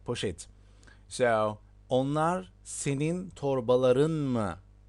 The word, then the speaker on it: poşet: Well, there are different ways of pronouncing this word in Turkish. Also, you can pronounce as poşet, poşet, which is like, Poshetl. Yeah, et. That's right, poşet.